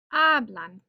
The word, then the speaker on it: hablan: They speak. Hablan. Stress on that second to last syllable.